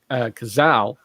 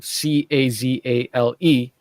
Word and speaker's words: Cazale: Speaking of which, the guy who plays Fredo, his name is John Cazal. I think that's how you say his name, Cazale.